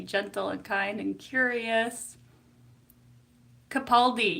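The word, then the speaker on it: Capaldi: Kapaldi. Yes, Kapali. That's how it's pronounced.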